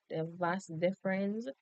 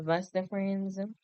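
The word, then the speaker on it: vas deferens: So basically the vas the vas difference we always produce it we always pronounce it that way but the vas deference so basically it's a muscular cube that carries sperm from the epidermis.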